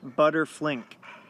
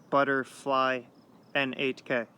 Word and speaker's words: ButterfliN8k: hashtag butterflink, or butterfly N8K. So it's spelled butter, B-U-T-T-E-R, F-L-I-N-8K. So it's a combination of butterfly and my original Xbox Live gamertag, IN8K.